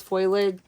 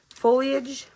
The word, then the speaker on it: foliage: then I have like all this foilage. Foliage. F I Oh my gosh, you guys. Foliage or foil. Oh my gosh, I can't pronounce stuff. I think it's foliage, but if if I'm wrong, I'm sorry.